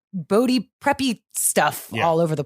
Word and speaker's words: Bode: Is it Bodie or Bode? Bodie. It is Bodie.